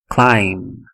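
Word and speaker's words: climb: eh mais uma é clim clim também não tem o som do B no final clim eh temos mais um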